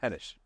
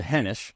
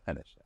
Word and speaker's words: Henish: to get Podcast today I have Hesh on henes henes excuse I'm going to buer this thing the whole time no it rhymes with henish so henish yeah henish and you're with is it is it C